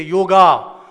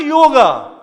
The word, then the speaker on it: yoga: pronunciation like you know people say yoga there is no word called yoga it is yog yog yog people just don't know